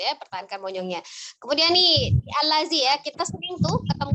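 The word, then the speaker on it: الذي: Allazi, zalnya tidak ditekan, lembut saja.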